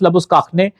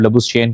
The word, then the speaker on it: Labuschagne: Australia की तरफ से मार्नस लबुस्काखने, फिर मैं वही बात कहूंगा, इसकी ओरिजिनल प्रोनाउंसिएशन जो है लबुस्काखने है, लोगों की आसानी के लिए उसने कहा कि आप लबुस्चेन कह दिया करें, तो वो फिर बहुत सारे लोग गलती निकालते हैं ना।